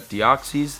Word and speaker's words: Deoxys: formzee oxys and caste form I know I'm pronouncing caste form right because it's very easy about deoxys that's correct deoxy Deoxys I haven't learned that